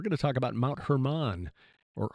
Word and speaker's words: Hermon: We're going to talk about Mount Hermon. Or Hermon, I just looked up the pronunciation.